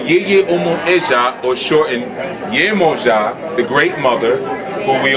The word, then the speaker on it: Yemoja: In Latin countries, they call it Yemonya. And it's only because they don't pronounce the J's. Okay? But her original name was Yemoja, which is short for Yeye Omo Eja.